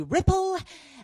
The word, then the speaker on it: Ripple: my name is Ripple rhymes with Tipple and I am what's